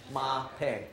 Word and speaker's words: Mapei: It's the most two important things in your life, your mother and your paycheck, Mapei, okay?